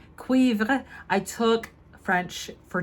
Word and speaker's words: Cuivre: I'm gonna try on the 01, the first one, Tweed Cuivré, and I looked it up of how to say it correctly. Cuivre. Cuivre.